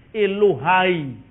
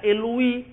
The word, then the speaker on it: Elohai: Elohim juga keliru bacanya. Yang benar Elohim. Elohai. Orang Yunani membaca Eloi. Karena Alkitab ini ditulis, diterjemahkan dalam bahasa Yunani. Maka ikut stylenya orang Yunani, slangnya orang Yunani, Elohai dibaca Eloi.